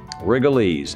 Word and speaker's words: Rigolets: Rigolets.